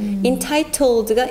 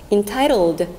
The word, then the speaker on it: entitled: Entitled가 이제 발음이 굴러져서 entitled, entitled. Entitled. Entitled. 되는 건데 entitled은 뭐냐면 title은 뭐예요?